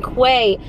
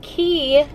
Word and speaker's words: Quay: I did end up ordering, I was saying it wrong in the vlog the other day, I just kept saying Quay. I ordered Key sunglasses off of Zappos.